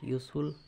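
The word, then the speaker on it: useful: তো এখানে দেখো এখানে ইউজফুল, এটাও কিন্তু ইউর মতো উচ্চারণটা হয়ে যাচ্ছে, ইউজফুল ইউ।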